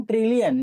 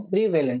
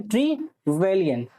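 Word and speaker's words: Trevelyan: और हेरोडोटस, जिसको हम फादर ऑफ हिस्ट्री बोलते हैं, इवन जीएम ट्रिलियन, यही हम नाम है, जीएम ट्रिलियन, जीएम ट्रीवेलियन, ठीक है, जीएम ट्रीवेलियन, ओके, जीएम ट्रीवेलियन।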